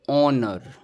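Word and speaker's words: honour: और यह है ओनर। ओनर रहेगा जिसमें एच साइलेंट हो गया।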